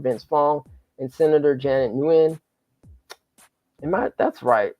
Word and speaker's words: Nguyen: always want to say new N. I want to put that N there, but the N is silent, Kim. It's like win, right? Win Yeah, or when. win. So the N is Yeah, silent.